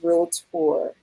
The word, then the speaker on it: realtor: North Carolina I am a licensed realtor two syllables not good okay um I am